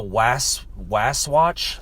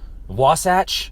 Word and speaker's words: Wasatch: Um, what is a waswatch? Was I don't even know how to say it. One of the options they basically took off the table. Wasatch. That's what it was.